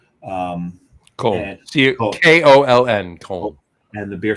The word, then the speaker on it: Köln: And as much great German beer as you have there, and Cologne's known for the Kolsch, because in German it's Köln. Köln.